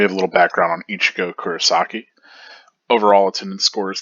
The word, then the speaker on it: Ichigo: most is william shakespeare how to pronounce his name ichigo emphasis on the i or the e accented like ichigo ichigo and uh here we